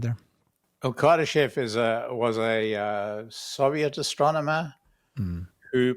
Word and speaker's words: Kardashev: So Kardashev's, how do you say it?